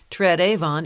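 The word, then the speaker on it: Tred Avon: the tread Avon River Trad Avon is simply the way some Brits at the time pronounced third Haven which was a description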